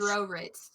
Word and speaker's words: Drorit: You said because- Drorit. Yeah, I did say that, Drorit. It's Hebrew.